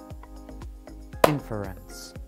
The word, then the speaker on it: inference: to know about inference we generally stress the beginning of the word we can show this by clapping when we say the word inference inference one last point inference